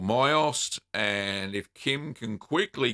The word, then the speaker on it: Mysost: It's called Myost, and if Kim can quickly get the link, it's spelled Mysost, Kim, and Eric will be able to find that.